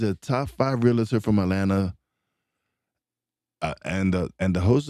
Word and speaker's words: Atlanta: I'm really happy to be here and I am uh really thrilled that you pronounced Atlanta the way it's supposed to be without that second T.